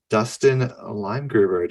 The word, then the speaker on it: Dustin Leimgruber: Here we have Dustin Leimgruber. Did I pronounce your name right?